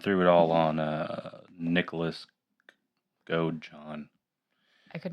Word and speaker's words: Godejohn: Yeah, I think it's Godejohn. Godejohn. Maybe it's a soft J, like yogging. Gojan. Anyways, so yeah, I knew